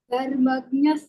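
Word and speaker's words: धर्मज्ञः: In this dharmagnya, the dha is mahapranah.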